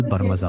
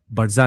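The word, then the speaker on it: برمجة: अस्तति और अलबर बरमजा अल बरमजा बोले बरजा नहीं तो कोडिंग के लिए अस्तति अल बरमजा बोल अस्तति और अलबरमजा दो तीन बार फिर याद पक्की हो जाएगी।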